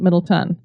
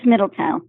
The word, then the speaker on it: Middletown: Is that how they say it, Middletown, or is it Middleton? It is Middletown.